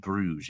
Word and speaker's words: Brugge: will what's your bet I keep trying to remember to say Brer but um it just